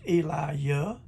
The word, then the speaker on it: Elijah: that's elijah and hallelujah hallelujah sounds funny it's pronounced elijah and hallelujah now psalm 68 4 king james